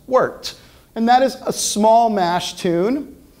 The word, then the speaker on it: wort: It's spelled wort, but it's actually pronounced wort.